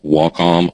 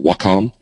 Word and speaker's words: Wacom: A lot of people ask me what little drawy thing I use, and here's how you pronounce it if you that's what it looks like, Wacom or Wacom.